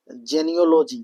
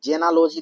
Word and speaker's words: genealogy: जेनियोलॉजी, देखिए जेनालॉजी नहीं होता है, जेनियोलॉजी होता है।